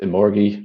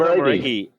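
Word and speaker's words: Omoregie: I've mispronounced that, haven't I? Chris is smiling. Oh yeah, absolutely. I've never actually heard someone say that name out loud. I just love how you kind of ducked out of the end of the pronunciation, like Omoregi. I mean, Elizabeth Omoregi.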